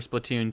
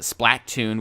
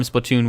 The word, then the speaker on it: Splatoon: She has been really excited for Splatoon 2. She calls it Splattoon, which is completely wrong, or I don't even know how she says it.